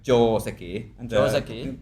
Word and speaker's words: joseki: So I mean, for example, the word Joseki, if I'm speaking in English, I'm saying Joseki, I think. Right. But in Japanese, the O is longer. It's like Joseki.